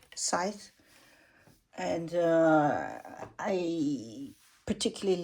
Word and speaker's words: Scythe: Some people call it skit or Scythe, but I actually like the English pronunciation, Scythe.